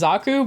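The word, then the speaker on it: Xaku: images so uh the one I picked is zaku but it's spelled x a kuu uh the unprimed version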